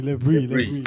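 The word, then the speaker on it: Le Bris: The All these guys, I can't pronounce their names. Debris or the Lebris. Lebris. Lebrie.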